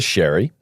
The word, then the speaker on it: Xerri: Um The other Shery. Not Tristan, Christopher Shery. Spelt scary, pronounced Shery.